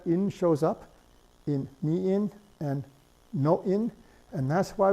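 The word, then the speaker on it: 인어: Now, it's pronounced ina, but it's spelled in-a, not ina. This would be the phonetic spelling, the shallow orthography, but the deep orthography forces you to write in plus a.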